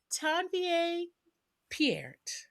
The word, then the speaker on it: Tanvier Peart: So, Tanvier Pierre, yes.